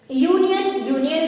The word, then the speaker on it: union: Like union starts with Y, and Y is not a vowel sound, it is a consonant sound of U.